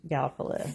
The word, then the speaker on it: Gallipolis: And he said it was Gallipolis. So then I knew how to say it.